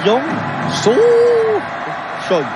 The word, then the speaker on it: Young So Choi: Il faut insister, il y a l'accent tonique sur So. Oui. C'est Young So Choi.